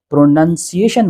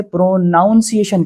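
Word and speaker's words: pronunciation: जब प्रोनाउंस से नाउन बनाया जाता है यानी प्रोनंसिएशन बनाया जाता है तो लोग अक्सर यहाँ गलतियाँ कर जाते हैं और वो इसे प्रोनाउंसिएशन कहने लगते हैं जो गलत है।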